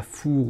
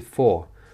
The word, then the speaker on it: four: Le 4, ça se prononce pas four ou je ne sais quoi comme en français un four, c'est 4.